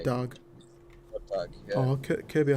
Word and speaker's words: Goddag: So it's spelled G-O-D and then D-A-G for day. Goddag.